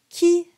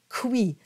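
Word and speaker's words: qui: we have Ki sapling now q-u-i is a lot like GUI you want to have that hard k sound it's a it's a whole other category but just make sure you're not going kui it's Ki KI like a k sound Geary sound so you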